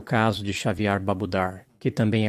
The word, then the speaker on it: Xaviar: De acordo com seu advogado, Xavier pronuncia seu nome como Xavier, como caviar.